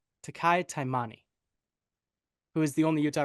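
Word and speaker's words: Taki Taimani: Minnesota Vikings get 1.5 against the New York Giants in New Jersey, and it is, Tanner, pronunciation? Takai Taimani, who is the only Utah representation.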